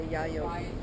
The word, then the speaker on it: Yayoi: yeah yeah yeah well if you're Japanese you say Yayoi nose from your website